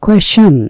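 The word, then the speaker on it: question: হচ্ছে বৈশিষ্ট্য গুণগত মান কোয়েশন কোশ্চেন না উচ্চারণটা আমরা জানি কোশ্চেন সবাই কিন্তু উচ্চারণটা একটু খেয়াল করবেন কোশ্চেন না এর উচ্চারণ হচ্ছে কোয়েশন কোয়েশন মানে হচ্ছে প্রশ্ন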